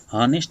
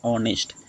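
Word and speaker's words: honest: तो यहाँ पे देखिए फ्रेंड्स ये ऑनेस्ट जो है ना, हॉनेस्ट इसे नहीं बोलेंगे, ऑनेस्ट। ऑनेस्ट यानी जो उच्चारण का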